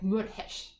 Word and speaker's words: Meurehg: So it would be something like Meurehg.